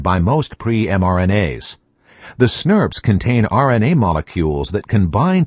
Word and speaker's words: snRNP: As soon as a pre mRNA is transcribed, it is quickly bound by several complexes called small nuclear ribonucleoprotein particles or SNRNPS pronounced snurbs for short.